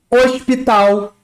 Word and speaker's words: hospital: O H no português, quando começa uma palavra, ele é mudo. Ele não é pronunciado.